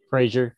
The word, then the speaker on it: Frazier: Paul, am I pronouncing your last name correctly? Frazier, yeah. Frazier, okay.